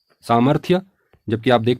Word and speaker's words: सामर्थ्य: और इसका उच्चारण होगा कड़ाही अगली वर्तनी है सामर्थ्य जबकि आप देख पा रहेंगे यहां पर लिखा है सामर्थ तो यह अशुद्ध वर्तनी है अशुद्ध प्रयोग है जबकि शुद्ध प्रयोग होगा सामर्थ्य सामर्थ्य आइए आगे बढ़ते हैं अगली वर्तनी है